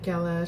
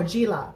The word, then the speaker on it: Gala: Can you say hi, Gala? She's my mom. Hi, Gala. How are you? Hi, Mommy Gala. How are you? Oh, it's pronounced as G. Oh, Gila.